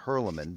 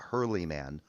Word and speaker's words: Hurleman: you have someone like Gavin Hurleman, not Hurleyman, Hurleman, that's how Praise is pronouncing Hurleman.